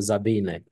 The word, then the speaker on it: Sabine: Sabine ela ela é bem legal é a pronúncia correta você tá certo é zabine ela é uma física teórica pros ouvintes saberem